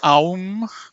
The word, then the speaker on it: Om: Om with the third eye, and with the crown you can pronounce it Om or Aum.